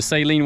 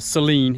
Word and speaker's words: Saleen: new to the channel the saline word might Seline excuse me I got to learn how to say it right I'm from the south I'm deep south y'all I'm I'm I just I've always said saline but I know it's Seline anyway if that tagged